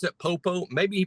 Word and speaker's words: Popo: What other way can you say Popo? Popo? There is no other pronunciation. Maybe he says Popo. P-O-P-O. That's Popo to me.